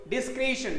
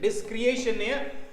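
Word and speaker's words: discretion: right down the words बघा हे डिस्क्रिशन काय डिस्क्रिशन डिस्क्रिएशन डिस्क्रिशन बघा डिस्क्रिएशन असा बघा स्पेलिंग जर असती सी आर ए टी आय ओ एन याचा उच्चार डिस्क्रिएशन आला असता डिस्क्रिएशन बघा डिस्क्रिशन डिस्क्रिशन काय आहे डिस्क्रिशन उच्चार काय आहे डिस्क्रिशन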